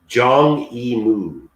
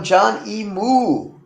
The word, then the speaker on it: Zhang Yimou: It's Zhang Yimou. John Lee? Zhang Yimou. Oh, John E. Moo. Okay, I thought you Yeah, said John. not John, not John. Zhang, like with a Z.